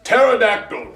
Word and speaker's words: pterodactyl: The P is silent.